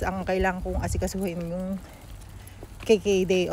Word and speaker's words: GGD: nga sa tinatawag na ah GGD or ang bigkas nila is KKD dito sa Netherland.